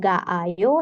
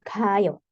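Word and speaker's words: 가요: satu aja gu ya Jadi bukan ga Ayo tapi Gayo Jan ko berarti saya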